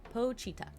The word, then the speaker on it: Pochita: Let me say how to pronounce Pochita from Chainsaw Man, because I don't want to say it wrong. Pochita.